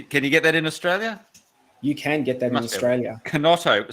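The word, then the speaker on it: Chinotto: Kinotto, spelled with a K, is it? Kinotto. It's spelled with a C-H-I. Ah, C-H-I. C-H-I-N-O. I'll check it out. T-O.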